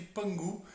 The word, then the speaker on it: Pan Gu: sobre o mito de Pan Gu se escreve com k mas se pronuncia com g algo parecido com um